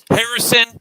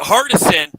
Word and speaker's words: Hardison: get pissed he's like you said his name wrong like i'm gonna murder you from across the room um yeah christian cool as right but uh um but hardison right that that's like the black